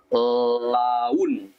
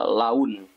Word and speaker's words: laun: So if you see a vowel followed by another vowel, you would pronounce it as you slide the sounds. For example, laun. Yeah, laun.